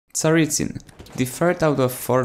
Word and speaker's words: Tsaritsyn: along the lines of Tsaritsyn and if you want to Russian pronunciation well it's something like Tsaritsyn but then again it's complicated this is the